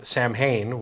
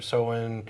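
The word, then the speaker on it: Samhain: America a lot of folks call it Sam Sam ha but that's actually the wrong pronunciation it's SA or soen okay um which is the Celtic word for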